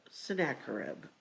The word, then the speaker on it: Sennacherib: and the Assyrian conqueror, Sennacherib. Sennacherib. Okay. That's how I've always heard it pronounced historically.